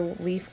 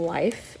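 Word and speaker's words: Leif: the lucky I know this is pronounced either leaf our life but I read of course nerd here in a documentary I heard them saying life and when we watched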